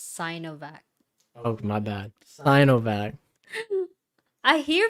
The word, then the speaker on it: Sinovac: out okay okay britney the sea in sinovac is pronounced as cyanovac oh my bad i